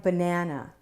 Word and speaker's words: banana: Take a word like banana. Banana, banana. Banana is a black cat word, but listen to the first and third syllables. Banana, banana. Right here in the middle is schwa.